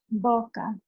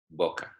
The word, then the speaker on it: boca: vodka good now remember how do you pronounce the O volka oh yes oh really make that all kind of shape yeah I feel that when